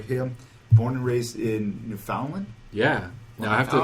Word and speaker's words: Newfoundland: Born and raised in Newfoundland?